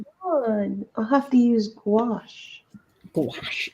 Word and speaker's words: gouache: have to use gouache gouache squash that rhymes with squash well it's something i